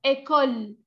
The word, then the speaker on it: école: ¿Por qué no pronuncian esa E final? Porque no tiene tilde. Aquí no tiene tilde. Esto es uno de los casos en que la E no tiene tilde. École, école. Ahí yo ya sé que esa E no la voy a pronunciar.